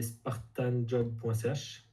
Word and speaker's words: Spartanjob: puis, donc ton site c'est spartanjob.ch, ça, C'est ça. comme ça se prononce.